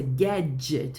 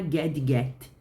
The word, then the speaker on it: gadget: device atenção a pronúncia Guedes não é gadge get apesar de ter o d e o g você vai juntar os dois igual para que que servem